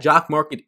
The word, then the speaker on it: Jock MKT: get into all that jock market is the sponsor of this friday show as they happen every single friday this year and jock market as it rhymes with stock market is exactly that is